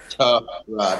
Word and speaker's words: Tyrod: That's how it's pronounced. Tyrod.